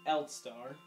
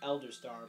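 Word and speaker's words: Eldstar: the first one that's going to talk is l star supposed to be pronounced elder star but whatever oh heavens he's a great danger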